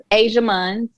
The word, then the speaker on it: Ajia Munns: snapchat but everywhere else asia muns a j i a m u n n s it's pronounced like the continent but not spelled that way so okay um and